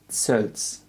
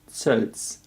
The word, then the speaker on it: Sölz: Yeah, in Dutch we pronounce Ö like Ö. Yeah, my name... as I already said, you know, she will never do that. I see. My name is Sölz. Sölz. Sölz. It is pronounced as Sölz. Yeah, like I've sent you a voice message. Not to me. It just ZOELS. How you can also read it.